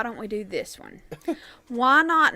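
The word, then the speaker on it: Whynot: Why not? I think it's Wynot then. No, it's just why not.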